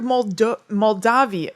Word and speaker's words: Moldavia: the scrooge of moldovia it's spelled moldavia basically it's m-o-l-d-a-v-i-a but i thought it was moltov i guess i'm gonna